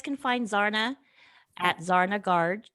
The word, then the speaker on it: Garg: Okay, so you guys can find Zarna at Zarna Garg.